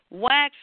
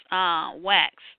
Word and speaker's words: Waqf: to discuss the Muslim Waqf's recent WAQFS, and I looked it up, and it's pronounced wax, walks, like box walks.